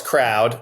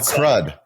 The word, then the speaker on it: Croud: So first of all it's crowd but that's okay. It's not it's not crud. Not crude but that's okay because you you guys spell it like a tech company.